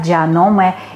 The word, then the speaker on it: Janome: Proviene de japonés, se pronuncia Yanome y significa ojo de la serpiente.